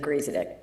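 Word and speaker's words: Griesedieck: No one does, but it was a perfect pronunciation of Griesedick.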